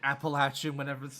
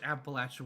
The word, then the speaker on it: Appalachia: That's gonna be average Appalachian average Appalachian when someone mispronounces it. Yeah, I've seen, like, people have bumper stickers on their cars that have, like, the correct pronunciation of, like, it's Appalachia, not Appalachia.